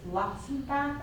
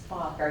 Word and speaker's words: Luxbacher: We always partner with Miss Luxenbach, I forgot how to say her name. Luxbacher, yes, and she always donates